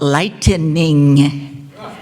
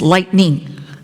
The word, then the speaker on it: lightning: trials in Uganda is everybody calls it lightening lightening hit me okay no it's lightning there's no e there's only one syllable but anyway but I